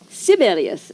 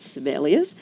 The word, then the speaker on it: Sibelius: We did some well-known composers in that category Bartok, Kodaly, Sibelius as they all learned to pronounce it not Sibelius.